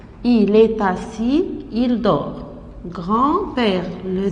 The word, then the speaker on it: dort: Il dort. Le T ne se prononce pas.